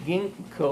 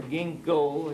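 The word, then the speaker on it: Ginkgo: for instance uh the Ginko or Ginko it's very hard to pronounce that correctly but it's spelled g n k g o and I believe comes from Japanese I'm not certain of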